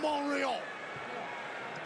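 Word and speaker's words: Montreal: six-star instant classic in Monreal. I don't know why they don't pronounce the T. It's clearly there with a line of Sammy says take some of that poutine, pal.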